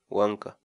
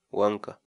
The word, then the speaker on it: wank'a: de videos en la que te enseñamos a pronunciar algunas palabras en quechua. Así que nuestra palabra del día por hoy es... Huanca. Huanca.